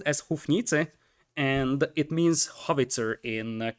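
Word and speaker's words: Houfnice: and uh a unit that everybody will probably pronounce as hoofness or hoof nice but according to google translate which is probably the only reliable source of uh translation data kappa it's pronounced as huff nite and it means hovitzer in czech so we're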